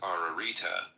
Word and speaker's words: Ararita: triple and double repe ition this word is pronounced ararita the virtue of the septin is absolute in